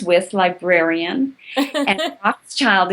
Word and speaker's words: Rothschild: rhymes with librarian, and Rothschild is like the famous name.